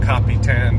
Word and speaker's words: Capitan: an area it's called Capitan New Mexico copy ten depending who you are and how you pronounce it it's pretty much the